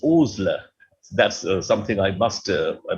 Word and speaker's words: Osler: he himself wrote that my name is not osler it's oozler that's something i must